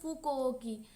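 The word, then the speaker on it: Fo-Kuo-Ki: उसके बाद अगर विवरण की बात करें तो विवरण फ यानी अपनी पुस्तक फोक ओकी ठीक है ऐसे प्रोनाउंसिएशन करके याद रखना फूकोकी ठीक है तो इसकी बुक का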